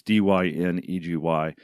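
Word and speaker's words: Dynegy: equipment and the infrastructure dye and energy is going to be a problem pronounce that wrong as Dyn egy Diane Energy is going to be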